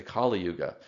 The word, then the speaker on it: Kali Yuga: And then the 4th Yuga or age is the Kali Yuga. This is actually pronounced differently. It's not the same as the goddess Kali, so it has a different unrelated meaning.